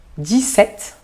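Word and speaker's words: dix-sept: 17, de novo o P sem pronúncia o P.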